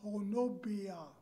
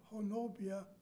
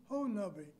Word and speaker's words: Honobia: to find a town by the name of Honobia. Nobody we stopped and asked had any idea where Honobia was.